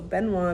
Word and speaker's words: Benoit: So Benoit means, or I guess to say it correctly in French, is Benoit.